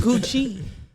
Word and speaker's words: Scoochie: The E silent. There's E's at the end of a lot of people's names. The E is silent.